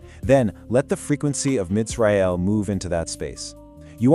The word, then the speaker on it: Mitzrael: Start softly with the constricted root Metzar. Feel the tightness of that first syllable. Then you release it into the angelic name Mitzrael. Notice how the sound inherently moves from closed and tight to wide and open.